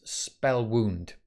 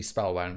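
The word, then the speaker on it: Spellwound: pronouncing some time as spell wound um it's supposedly supposed to be spell wound because it's a riff off Spellbound but no no no I've been saying spell wound because it sounds like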